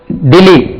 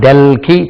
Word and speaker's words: Delhi: அவர்கள் டெல்லி டெல்லி இதுக்கு உச்சரி பாருங்க DELHI டெல்லி டெல்லி டெல்லி டெல்லி இங்கிலீஷ்ல நம்ம டெல்கி சொல்லக்கூடாது நியூ டெல்லி இங்கிலீஷ் உச்சரிப்பு